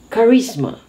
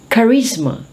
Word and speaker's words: charisma: lot of embarrassing moments ch as k so charisma charisma what's charisma it is a magnetic